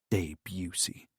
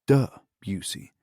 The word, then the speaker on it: Debussy: Debussy, he complained to himself. It's Debussy, he complained aloud. Honestly, it's national radio.